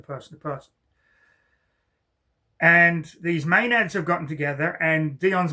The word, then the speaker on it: Maenads: And Dion, uh this ritual is performed on him because these women are what is known as Let me get the pronunciation right. uh Maenads.